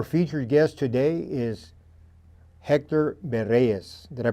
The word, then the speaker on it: Berrellez: Our featured guest today is Hector Bereas. Did I pronounce it right? Yes. Berees. And my English speaking friends would would uh call it Bareilles.